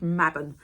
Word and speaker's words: Mabon: So the fall equinox is called Mabon, and that is spelled M-A-B-O-N.